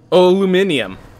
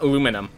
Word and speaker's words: aluminium: england that aggravate me like aluminum love how americans say aluminum um it sounds so cute aluminium not aluminum huh i do know